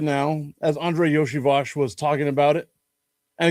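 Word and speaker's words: Iosivas: I saw an article yesterday talking about Bengals wide receiver Andre Yoshivos. And yes, that's how you say it, even though it's not spelled that way. Andre Yoshiash.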